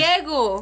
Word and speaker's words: ciego: ciego.